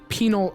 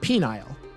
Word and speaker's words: penal: the life of me I had to try really hard there to pronounce uh uh penal and not penile which is something else uh mersky you are